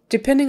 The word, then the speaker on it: depending: Depending, the stress is on the middle syllable, depending, depending. So that DE in the front, you're going to say it either D or DE or DE. It's not going to matter that much because it's going to be so fast.